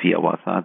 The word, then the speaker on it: Hiawatha: of his most famous poems the Song of Hiawatha that's how he wanted it to be pronounced published in 1855 within just a couple